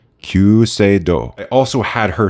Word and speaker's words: Kyuseido: Japanese way in Japan they would not say cusido so I got coached and I will now do my best attempt qo I also had her